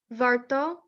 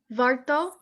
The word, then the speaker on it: warto: jedno, warto, You got to roll your R a bit. warto, Warto.